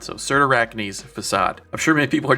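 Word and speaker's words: Cyrtarachne's Facade: time but after doing some Googling it's actually pronounced certar acne's facade so certain arachni's facade I'm sure many people are just going to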